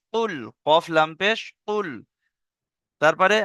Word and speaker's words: قل: দেখেন, প্রথম আছে কি, কফ লাম পেশ কুল, কফ লাম পেশ কুল।